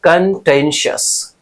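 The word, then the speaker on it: contentious: अब देखो प्रोनाउंसिएशन मैंने दे रखा है कंटेंशियस, कंटेंसस, याद रखिएगा, बहुत इंपॉर्टेंट है, पूछा ही पूछा जाएगा।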